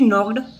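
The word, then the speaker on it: knocked: है आगे बढ़ाने सी नॉक्ड ये नॉकिंग जैसे की यहां पर जो के है पहले शब्द उसे साइलेंट राहत है इसलिए कहते हैं नॉक्ड ओके तो सी नॉक्ड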